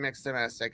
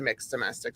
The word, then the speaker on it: Mx Domestic: that don't know me hi I'm I'm mixed domestic I used to be known as Mr domestic and then I uh came out as non-binary back in October and changed my brand to mixed domestic so that's how it's pronounced now but yeah